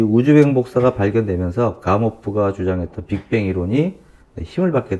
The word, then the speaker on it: 가모프: 빅뱅 이론을 창시한 가모프. 그렇죠. 가모프. 우리가 이제 영어식 발음은 가모인데, 그 러시아 사람이기 때문에 러시아 발음으로 하면 가모프가 되겠죠.